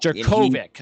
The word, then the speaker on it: Jurkovec: Jurkovec. I just want to make sure I Jurkovec, pronounce yeah.